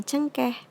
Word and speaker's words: cengkeh: E-nya pakai e curak ya. Jadi dibacanya cengkeh.